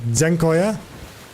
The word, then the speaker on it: Dziękuję: You need to pronounce Z. Dziękuję.